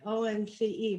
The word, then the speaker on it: ONCE: in madrid called omphae omce that's how you say it in my castilian's parents by the way it sounds like once in general yeah yeah